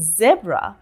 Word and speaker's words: zebra: And in zebra, we do not pronounce the A sound.